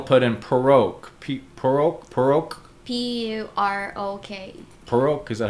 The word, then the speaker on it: Purok: Purok, is that how you pronounce it?